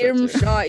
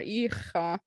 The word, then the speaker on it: Ircha: Someone says and mispronounce Irmsha, Irusha, Irka. Yeah. Ircha is my favorite one. I know, right? That's a pronunciation. These are spellings. Like, forget about the R. Ircha.